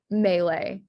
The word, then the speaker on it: mele: So in Hawaiian, the A sound is spelled with an E. So wahine, ukulele or ukulele, and then mele all have that A sound.